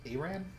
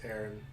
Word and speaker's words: Aran: Is it Aran? Why would the two A's be pronounced differently? It's Aaron. I mean, that's how I've always said it. No, it is Aaron.